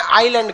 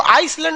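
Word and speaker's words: island: द्वीप को इंग्लिश में आइलैंड कहते हैं। क्या कहते हैं? आइलैंड। आइलैंड में ना एस साइलेंट रहता है। इसको आइसलैंड नहीं पढ़िएगा, आइलैंड। आइसलैंड तो इस तरह लिखाएगा, आइस लिख के लैंड।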